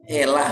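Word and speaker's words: אלה: bukti pengucapan penulisan aramaik alif lam dibaca elah single l bukan double l tidak ada titik dag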